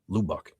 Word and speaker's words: Lubbock: Jason Love says pronounced Lubbock.